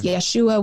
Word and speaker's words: Yeshua: name all the time some people would say we should say yeshua rather than jesus because yeshua would be the aramaic way of pronouncing it but our english our